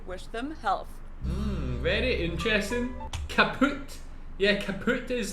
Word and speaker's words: kaputt: We spell it with 2 T's in Germany, but we pronounce it the same way, kaput.